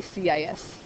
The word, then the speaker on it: cis: you can do the, apparently it's pronounced kiss, it says in your book, kiss theta. I don't like that, so. It's just weird. I always say CIS.